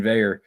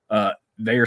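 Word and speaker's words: Veilleux: Shout out to Christian Veyer, which is, again, the weirdest last name to pronounce with the way it looks. It's French Canadian. Not how it looks.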